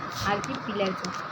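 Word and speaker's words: archipelago: आर्कीपिलैजो इसका प्रोनाउंसिएशन है आर्कीपिलैजो, तो राइट आंसर इज सी।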